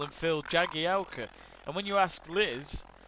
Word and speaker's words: Jagielka: liz jagalka but the commentators call him phil jagielka and when you ask liz my teacher she says no it's pronounced your galca and so yeah basically phil your galco is